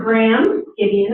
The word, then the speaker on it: Graham Gideon: And so this is Graham Gideon, am I pronouncing your name correctly?